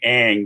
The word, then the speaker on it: Ingres: So when you look at people like, I'm going to say Ang, which is Ingres, and I can tell you 8 different ways that I've been told and how to pronounce that.